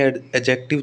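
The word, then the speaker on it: adjective: ठीक है, ये अपने एडजेक्टिव तो अपने फोनेटिक ट्रांसक्रिप्शन में पढ़ के भी आए हैं, इसको कैसे बोलते हैं कि डी और जे जब साथ में आ जाए तो डी साइलेंट रहता है।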